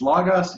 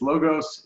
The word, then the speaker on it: Logos: How do you say Logos? Apparently it depends on which seminary you went to. So it's Logos, it's Logos, it's we'll answer to any of them.